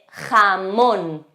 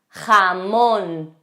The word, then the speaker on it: jamón: J de jamón. Jamón. Sonido fuerte.